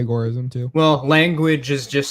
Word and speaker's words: agorism: Well, agora would be consistent with what the what the neologism was based on, which is agoras in the context of the ancient Greece.